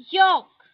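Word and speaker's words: yolk: Talk talk, walk walk, योक योक। ठीक है, यहाँ पे देखो एल जो है वो साइलेंट है। ठीक है, टॉक वॉक योक, ये साइलेंट है।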